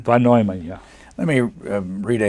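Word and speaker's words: von Neumann: shever again recruited him for the program you pronounce it van noyman van noyman yeah let me read ah had here they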